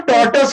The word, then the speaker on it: tortoise: इसका real pronunciation टॉर्टस होता है, टॉर्टस, टॉर्टस।